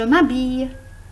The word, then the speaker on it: m'habille: Le matin, je m'habille. Je ne prononce pas le L.